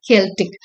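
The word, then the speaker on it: Celtic: இது செல்டிக்ல கெல்டிக், pronunciation is K here.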